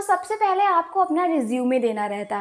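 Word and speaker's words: résumé: देखिए यहाँ पे हम बात कर रहे हैं रिज्यूमे की, तो आपको मैं एक चीज़ क्लियर कर दूं कि इसका प्रोनाउंसिएशन हमेशा रिज्यूमे होता है, रिज्यूम नहीं।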